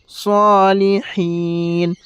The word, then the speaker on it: الصالحين: وعلى عباد الله وعلى عباد الله حص حص এই জায়গায় সদ উচ্চারণ করবে হিস। وعلى عباد الله الصالحين صالحين صالحين السلام علينا وعلى